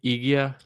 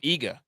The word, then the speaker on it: Iga: How do you say her name? Igia? What? Oh, Iga.